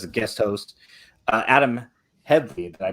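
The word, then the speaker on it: Headlee: at the as a guest host uh adam headfee did i pronounce that correctly you did all right all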